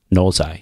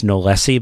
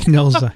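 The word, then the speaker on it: knowlesi: And I used to pronounce this Nolesi, but as we know, this was named after a gentleman. Nolesi. And so, right. Knowles. So, Knowles, you know. Yeah, Nolesi.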